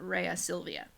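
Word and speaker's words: Rhea Silvia: Mars loves Raya Sylvia you'll hear in the classical Latin pronunciation that bees tend to sound more like double use today a salut yeah but when we translate in English we can use the V sound Raya Silvia eat aqua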